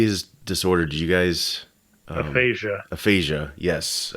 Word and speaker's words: aphasia: Did you guys aphasia? Yes, it's a speech and reading impairment. Yeah. And here's something I found out about this, just being a nerd and looking into everything. Sure. Aphasia is more instead of being like a dedicated